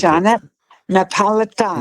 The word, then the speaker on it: Jeanette Napolitano: How do you Jeanette Napolitano. Napolitano. Okay. I thought that was the pronunciation, but I just wasn't sure.